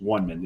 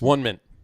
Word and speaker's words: Onement: it's actually, but I had to ask the bartender, it's actually pronounced One Mint. It's One Mint.